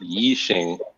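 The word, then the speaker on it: Yixing: It's a slightly different pronunciation and different word. It's like Yi Xing, okay, instead of I Ching.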